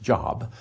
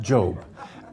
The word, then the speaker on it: Job: of you know job not pronounced job but job job um is one of my